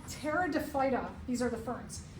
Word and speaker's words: pteridophyta: This is called pteridophyta. These are the ferns. The P is silent.